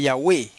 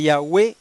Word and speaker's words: Yahweh: Ahora vamos a coger la palabra Le Yahweh. Si usted le quita el prefijo Le, ¿cuántas sílabas le quedan? 2 sílabas. 2 sílabas.